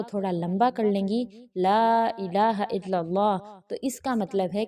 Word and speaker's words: لا الہ الا اللہ: لا الہ الا اللہ۔ اس کے تلفظ کو بہترین طریقے سے ادا کیجیے۔ لا الہ الا اللہ بھی نہیں کہنا، لا الہ الا اللہ کہنا ہے۔ لا کو تھوڑا لمبا کیجیے، کیونکہ اگر لا کو لمبا نہیں کیا جاتا تو